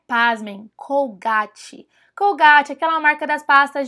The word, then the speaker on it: Colgate: a gente adora falar colgate colgate mas lá eles falam Colgate colgate colgate então se você tiver no mercado atrás de pasta de dente Não pesquise não busque por cgat fala Colgate que aí o vendedor